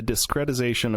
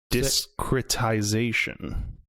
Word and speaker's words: discretization: i'm pronouncing it right discretization discretization that's kind of what i the process of discrediting no because it's not it's not like from discredit it's d-i-s-c-r-e-t i-z-a-t-i-o-n like discrete but that might be